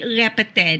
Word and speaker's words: répéter: In French, if you want to ask someone to repeat, répéter. That's how you pronounce the French word.